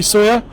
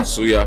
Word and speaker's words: Suya: Definitely soya. Wow. Suya, right. Suya, is that the correct pronunciation? Mm-hmm. Yeah, Yes, Suya. yeah, right.